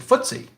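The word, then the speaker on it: FTSE: time stock exchange but if you want to impress your friends at a parties you pronounce it footsie uh all wild just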